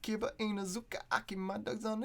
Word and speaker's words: Kiba Inuzuka: I was Kibu Inazuka. Fuck, how do you say his name? Kiba Inuzuka.